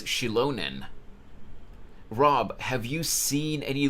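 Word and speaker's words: Xilonen: So her name is pronounced as Shilonen.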